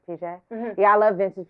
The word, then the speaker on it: Piaget: Piaget. Piaget. Piaget.